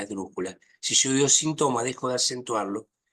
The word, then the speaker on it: sinthome: transmito algo de psicoanálisis la hago entre síntomas y sintoma como no puedo pronunciar la H pero la H está escrita cuento con la posibilidad de no acentuar de no hacer una palabra esdrújula síntomas es una palabra